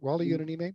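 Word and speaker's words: Wally Yonamine: Am I pronouncing that right? Wally Yonanime, yeah.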